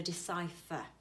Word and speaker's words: decipher: So we pronounce it as the F. So decipher.